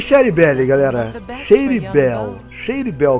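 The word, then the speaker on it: Shady Belle: Shady Bell, que é pronunciado corretamente Shady Bell. Eu chamava de Sherry Belly, mas é Shady Bell.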